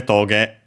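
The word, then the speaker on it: トゲ: It's accented on the last syllable, so toge.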